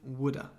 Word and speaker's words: would've: Remember the pronunciation. I should have, shoulda. Would have, would've, woulda.